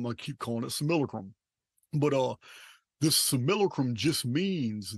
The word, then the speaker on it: simulacrum: The idea that we live in this simulacrum, it's pronounced simulacrum in the old Latin books, for which I got at the Oxford English Dictionary.